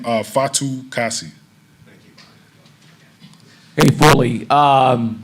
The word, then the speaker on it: Fatukasi: pronounce that last name like you're enunciating each syllable so oh my last name uh fatu kasi thank you hey fully um how about the